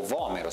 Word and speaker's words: Vomero: Quest'ultimo modello, Vomero o Vomero se pronunciato all'italiana, 15, cerca invece di ritornare